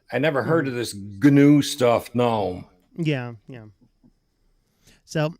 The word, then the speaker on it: GNU: ask you know stallman or anybody else it's gnu it's nothing else um but since i mean it is spelled the exact same way as a little